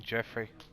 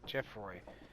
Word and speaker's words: Jeffroy: I'd say call him Jeffrey. Jeffroy. No, Jeffroy. That's it. Jeffroy. I'd call it Jeffrey, but that's be an EY. So it's OY.